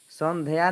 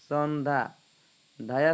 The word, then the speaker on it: संध्या: रवि रंगीन छवि संध्या संध्या उच्चारण ऐसे करेंगे ठीक है संध्या नहीं बोलना है संधा धया संयुक्त है ना तो जहां संयुक्त रहेगा अगला जो अक्षर होता है वो डबल हो जाता है सौंधा रोबीर रंगीन छवे